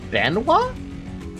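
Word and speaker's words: Benoît: It's Bena. The fucking T is silent. Oh, that's so annoying. Language sucks. Benoa. Amio Benoa. That's probably what it is, right? Amio Benoa. Welcome to French.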